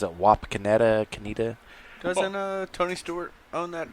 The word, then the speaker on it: Wapakoneta: Yeah, Wapakoneta. Never heard of it. Wapakoneta, Ohio. Nope. I think that's how you pronounce it. Wapakoneta.